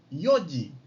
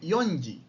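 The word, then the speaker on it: よじ: cuando hablamos de horas las cuatro se dice yoyi yoji no se dice yonji se dice yoyi yoyi son las cuatro la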